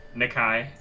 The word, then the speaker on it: Nakai: Nicky not Kai am I saying it right nakai okay yeah yeah Kurt's name is to sound